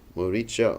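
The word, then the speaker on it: Maricha: Actually, there's two ways to pronounce it. Moricha or Morich, who was actually the uncle of Ravan.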